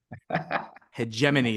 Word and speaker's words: Hegemony: Corey for pronouncing the name it's it's hegemony hegemony is the way you pronounce that word noty hegemony oh just you